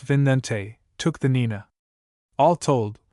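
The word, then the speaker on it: Vicente: Martin Alonzo Penzon took the Pinta and his brother Vincente, pronounced Vinente, took the Nenina.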